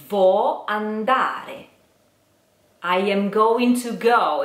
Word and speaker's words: andare: Vo andare. You try. Let's divide into syllables. Vo andare. You try. Careful with the R. Re. You try. An da re. Andare.